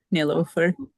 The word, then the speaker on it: Nilofer: Is it nilofer? Yes. Nofer rhymes with Jennifer. Nilofer.